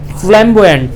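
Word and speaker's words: flamboyant: क्या होगी उसकी pronunciation? फ्लैम्बॉयंट। Yes, very good. इसको कहते हैं फ्लैम्बॉयंट, ठीक है?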